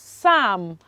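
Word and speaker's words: psalm: the bible okay and we pronounce it as sam we pronounce it as what assam okay another one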